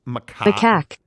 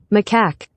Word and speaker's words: macaque: them on the uh and I believe it's Makai we didn't know how to pronounce the name of the monkey macaque so we went to Google macaque and put